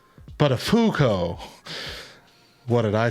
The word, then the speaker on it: Buttafuoco: His boss says, it's pronounced Buttafuoco.